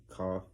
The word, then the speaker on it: cough: Why do all the GHs sound like Fs? Don't come back. Come back. I'm just asking. Why do they sound like Fs? Why they just didn't put an F?